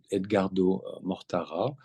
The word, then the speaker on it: Edgardo Mortara: d'un jeune enfant Edgar Edgardo Mortara je le prononce à la française euh un jeune enfant